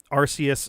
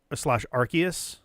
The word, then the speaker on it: Arceus: I would say that at this point, the official pronunciation was the hard C slash K sound, considering the system that was used to create type null is the RKS system and not an RCS system, because it's clearly a